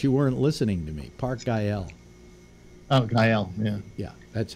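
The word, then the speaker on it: Güell: Park Gael. Oh, Gael. Yeah. Yeah, that's how it's pronounced.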